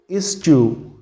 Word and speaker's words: eschew: I repeat, the pronunciation is eschew.